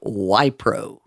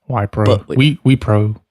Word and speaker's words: Wipro: And it's a company called Wipro. We think that's how you pronounce it. Yeah, Wipro.